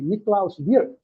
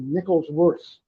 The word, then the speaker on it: Niklaus: Europeans generally pronounce my name the right way. Niklaus. Americans invariably mangle it into nickels worse. Watch this comment. Europeans call me by name, but Americans call me by value.